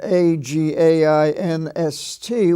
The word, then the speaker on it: against: is pronounced again and a g a i n s t which is against so these are the few